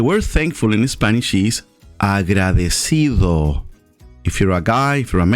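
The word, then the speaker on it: agradecido: yo estoy i am agra decido thankful five syllables cinco silabas if you're a female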